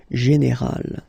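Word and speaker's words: générale: Okay, but then phonetically it's quite interesting because you don't make any difference. You will get so général at the masculine form, and it will be exactly the same thing at the feminine form, général.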